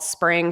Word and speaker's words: Spryng: And so the event was called Spring, spelled Spryng by Winter, which is also spelled with a Y. The I becomes a Y.